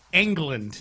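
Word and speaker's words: Chip Engelland: All right, the other headline here locally, the Rockets hired Chip England. Am I pronouncing his name right?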